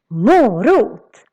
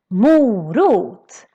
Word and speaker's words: morot: And in this video, we're gonna learn how to pronounce all of them. We're gonna start with a healthy option. Morot. Morot.